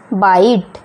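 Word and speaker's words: bite: उसी प्रकार बी आई टी ई, तो हम इसे बोलेंगे बाइट, है ना, टी तो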